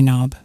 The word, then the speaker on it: knob: here is a door knob yes the K and knob is silent and these things here